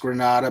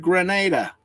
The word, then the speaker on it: Granada: billion gifts Y and we know it's pronounced Granada because of the Ford Granada yep because nobody ever got on TV and said buy a Ford Grenada they they'd think it would blow up don't push the button